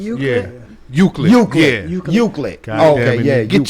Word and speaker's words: Euclid: Uslit, Ohio.